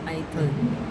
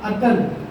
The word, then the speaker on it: अतल: ये British pronunciation है, ये ब्रिटिश लोग प्रोनाउंसिएशन करते थे ऐथल। ऐथल उसका नाम है अतल।